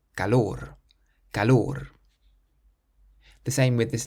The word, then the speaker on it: calor: The next word means heat, and this one ends in an R, so we emphasize the last syllable, calor, calor.